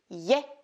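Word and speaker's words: е: Mais quand je me retrouve devant cette lettre-ci, qui se prononce ye et non pas e, j'ai le réflexe de la prononcer e.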